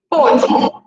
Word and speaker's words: pôde: Então, aqui é pode e aqui é pôde, né?